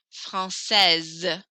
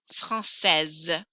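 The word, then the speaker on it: française: francais no s francais francaise i hear the s very strongly there francais francaise this one i hear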